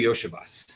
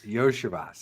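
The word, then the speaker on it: Andrei Iosivas: Andre Yoshevas. Yoshevas.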